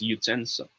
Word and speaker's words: utensil: Believe it or not, it's pronounced as utensil. Okay? Many Filipinos, many of us says utensil.